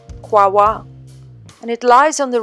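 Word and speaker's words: Kouaoua: pronounce it I would say something like like Co but really it is pronounced quwa and it lies on the river qua there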